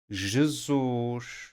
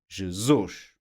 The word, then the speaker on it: Jesus: Any word with any of these endings will be stressed on the last syllable. Ali, feliz, Peru, Jesus. You see? Or can you hear? Last syllable, the stress.